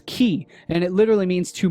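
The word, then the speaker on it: χ: And of course, ki is also the 22nd letter of the ancient Greek alphabet, pronounced as ki, and it literally means to mark with an X.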